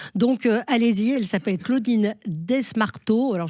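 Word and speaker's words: Desmarteau: allez-y elle s'appelle Claudine desmarto alors je pense qu'on prononce pas le S D s m a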